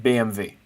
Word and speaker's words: BMW: that BMW is pronounced BMV BMV BMW is literally pronounced BMV isn't that nuts can you create a